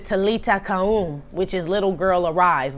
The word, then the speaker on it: talitha koum: what it is uh i think you pronounce it talita kahoon which is little girl